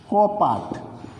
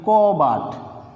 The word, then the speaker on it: কপাট: যেমন হওয়ার কথা ছিল কপাট, আমরা উচ্চারণ করে থাকি কবাট, কবাট।